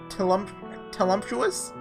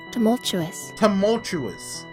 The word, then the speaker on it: tumultuous: Telumtuous? Let's look that up. Telumtuous. Tumultuous.